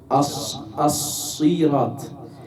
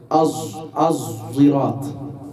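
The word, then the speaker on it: الصراط: Y lo lee Hamza, el otro qari, el otro especialista, lo lee Az-Zirat, el ishma. Es entre la zain y la sad.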